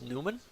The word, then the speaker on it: Nyman: so far this tournament oh it's actually called Newman okay that's how you pronounce name it's actually Newman look at him scoring